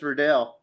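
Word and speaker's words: Riddell: Is it Riddle or Redale? JB said it right before. It's Redell. Redell.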